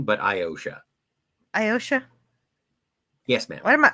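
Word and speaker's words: Iotia: captain it is pronounced iosha it's kind of like ocean but iosha ayosha yes ma'am what am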